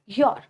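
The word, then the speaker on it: you're: ये पहला मेथड था, ये आपको समझ आ गया है, जिसमें हम यू को आर के साथ बनाएंगे और उसको प्रोनाउंस करते हैं योर, योर।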